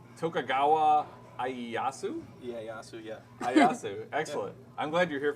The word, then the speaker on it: Ieyasu: Ieyasu.